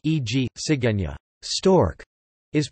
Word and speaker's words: cigüeña: A diéresis U indicates that it is not silent as it normally would be, e.g., sigueña.